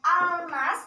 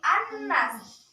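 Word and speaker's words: الناس: Bacanya bukan al-nas tapi an-nas.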